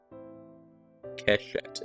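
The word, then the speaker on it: קשת: Kashwit. Keshett is how it's pronounced.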